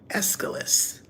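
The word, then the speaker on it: Aeschylus: read a quote by escalus his name is spelled not like you think it's AE c h y l u s and this was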